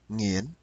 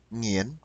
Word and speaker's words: Nguyễn: Còn một chữ Nguyễn, Phương thì Thái đọc là nghiến phương, nghiến phương bạn.